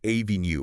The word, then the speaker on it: avenue: But it's really pronounced avenue or avenue. That middle E is very soft, almost swallowed a schwa sound, really. Enu.